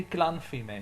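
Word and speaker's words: glanfaidh: on an ending and that ending can be pronounced two ways some people like me pronounce it as he so i would say glenn he may on shamrock sometimes people pronounce this as fee so they do pronounce that f sound and they would say glen feme on shomra glen feme and shomra both of them are correct it kind of depends where in ireland you're from but i say it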